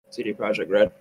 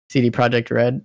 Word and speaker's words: CD Projekt RED: CD Projekt project how do you say it CD Projekt RED CD Projekt RED like I think it's a very big risk